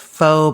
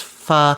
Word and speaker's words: pho: pronounce the Vietnamese soup that's spelled pho they pronounce it fo but it's supposed to be pronounced fu but this is a Thai soup and so I'm putting fo before it.